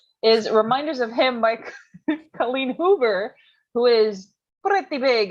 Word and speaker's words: Colleen: Is it like Colleen? It's not like colon. No, it's Colleen. Yeah. Colleen. Like leaning.